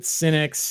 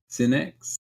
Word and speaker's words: Sinix: Verino in the chat said Sinix is how we pronounce. All right, cool. Sinix.